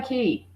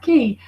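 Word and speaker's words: Cay: and then um Castaway key it's not K guys it's actually pronounced key uh is we're going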